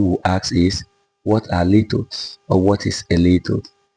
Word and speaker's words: litotes: In today's lesson, we will be looking at litotes. I've heard people pronounce it litotes, but I'm comfortable saying litotes.